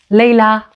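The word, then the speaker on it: ليلى: And we again pronounce it as a long vowel, A. A, Leila.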